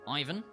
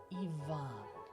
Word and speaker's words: Ivan: in the wrong place in English we say Ivan putting the stress on the first syllable but in Russian it's actually on the second syllable Ian Ian like this guy